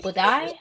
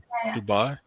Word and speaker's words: Dubai: Yeah, no, the steak for How Molly Berg basically made a video and then she's apparently in Budai, I think is how you say the country. Dubai.